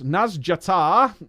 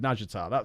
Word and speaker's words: Nazjatar: The next video we're going to look at is, of course, Nazjatar, or Nazjatar, depending on who's doing the voiceover in Nazjatar. It has different pronunciations. Some of the NPCs are calling it Nazjatar, but I believe Queen Ashara actually calls it Nazjatar, so I'm going with Nazjatar. That makes sense to me.